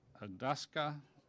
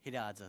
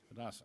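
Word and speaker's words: Hidatsa: Roger Whiteowl, Intergovernmental Affairs Liaison, Mandan Adaska. I'll take it from there. You're recognized. It's pronounced Hidadza there, sir. Hidadza, okay.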